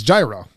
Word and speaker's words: gyro: It's gyro.